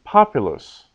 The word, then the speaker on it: populus: So when we add that, here in this example, the word would normally be populus. Populus. The second last syllable is short, so the accent is on the third last syllable, populus.